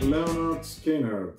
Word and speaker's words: Lynyrd Skynyrd: "Pronounced 'Leh'-nerd Skin'-nerd" by Lynyrd Skynyrd from 1973 The pioneers of Southern rock.